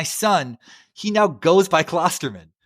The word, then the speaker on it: Klosterman: Yeah, I should probably tell you my name is actually pronounced Klosterman. Oh, apologies. Chuck Klosterman. But I hate telling people that because there's no umlaut over it.